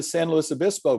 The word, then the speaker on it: San Luis Obispo: And then I said, "Well, I've never been to San Luis Obispo before." And she said, "Oh, you pronounced it right."